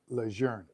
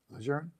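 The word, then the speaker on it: Lejeune: say it right Marine our name is leer spelled the same but pronounce different French right lour so this I think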